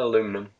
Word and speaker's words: aluminum: James, now that you're back, what do you say, aluminium or aluminum? Aluminum. Oh, How do you guys spell it?